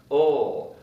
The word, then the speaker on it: will: And it's pronounced ul. I'll get the phone. I'll get the phone. You can also get even a little bit lazier and say, I'll get the phone, like O-L. I'll get the phone.